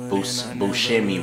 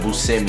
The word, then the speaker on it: Buscemi: not too long ago I've been pronouncing Buscemi wrong. It's actually, instead of Buscemi, it's Buscemi. So yeah, Jon Buscemi, and these are on the wheat gum colorway.